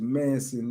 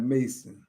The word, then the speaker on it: Manson: Your last name is Manson, not Mason.